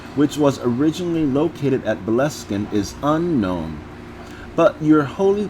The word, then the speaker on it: Boleskine: The manor, which was the prophet's home at the time, is usually known simply as Boleskine, which is pronounced Bol Eskin.